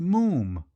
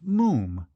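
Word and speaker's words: Moffam: told you father it's Moon Mom it's spelled m-o-f-f-a-m but pronounced Moon to rhyme said Archie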